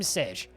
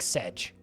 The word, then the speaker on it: Sej: siege who are you i'm sej it's pronounced like sedge okay tell me about